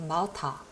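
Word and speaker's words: Martha: 독일어에서는 요 t하를 그냥 트 발음을 해요. 그래서 마타 쉽습니다.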